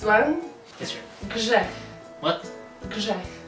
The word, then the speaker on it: grzech: Grzech. Grzech. Yeah. Grzech.